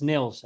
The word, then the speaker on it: Nils: It's Nils, actually. Nils. See, Yeah, I just ruined it all over the place. yeah. Nils and Gaha.